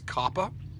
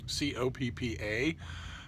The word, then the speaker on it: COPPA: I know these are trying times, but double consonants calls for the preceding vowel to be short.